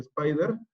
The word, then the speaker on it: SPDR: Uno de los ETFs más conocidos es el SPDR, que se pronuncia Spider, y fue el primer